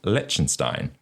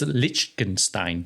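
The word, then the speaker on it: Liechtenstein: Haven yes legenstein Le I think he's saying it wrong am I I think it's lichenstein lichenstein I think so sorry yeah I'll say it right now lichenstein levies no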